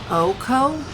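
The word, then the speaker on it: OHKO: sure uh he can OKO one hit kale oh okay but OKO OKO is the way to pronounce it as well okay I'm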